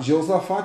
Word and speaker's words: Josafá: um o mago jeosafá em algumas bíblias fala josafá e eu vou falar josafá que eu gosto mais essa pronúncia mas a bíblia fala josafá e jeosafá depende da tradução da sua bíblia então esse rei josafá